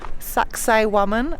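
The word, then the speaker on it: Sacsayhuamán: at a place called saxay woman I hope I pronounce it correctly it sounds a bit like sexy woman but of course it is not that's just how you can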